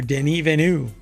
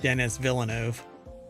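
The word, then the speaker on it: Denis Villeneuve: there's an entire phrase here that's missing director Den venu that is apparently how you pronounce his name or he pronounced his name or you're supposed to pronounce his name not Dennis Villano denu um believes Blade Runner 2049 could have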